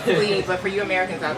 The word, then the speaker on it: Clive: Just write Clive, C-L-I-V-E, C-O-N-G-O. Clive, and that's .com. I thought it was Cleve. Yeah, but the pronunciation. Oh, the pronunciation, right. So the French pronunciation is Cleve, but for you Americans out there, it's C-L-I-V-E.